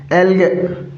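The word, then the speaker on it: algae: एक हो जाएगा एल्गे, तो एल्गे का अर्थ क्या होता है साथियों, इसके अंदर ई लगाएंगे तो फिर प्रोनाउंसिएशन क्या बनेगा, एल्गी।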